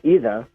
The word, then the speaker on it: Ida: my mom's name was ida we used the italian pronunciation either and my dad's name